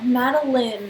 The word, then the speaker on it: Madeline: just like it's Maddie your full name no Madeline that spelt ma de lis spelt line pronounce when Madeline oh my